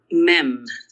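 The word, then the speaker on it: מ: Mem. That's your mem. That's your M sound.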